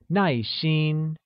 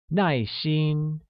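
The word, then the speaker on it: 耐心: or patient translates as nice Sheen which uses a falling tone on a and a high level tone on I making it nice Sheen wonderful now let's take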